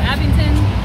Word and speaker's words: Abingdon: to this area um how do you say the name of the town abingdon okay so abington virginia so when we come back